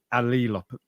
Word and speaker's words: allelopathy: Turns out it's pronounced allelopathy.